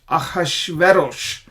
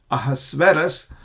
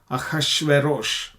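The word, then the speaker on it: אחשורוש: we're talking about aash aash veros that's how it is pronounced in the Hebrew it is translated as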